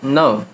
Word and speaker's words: know: Initial K is silent before N as in to know.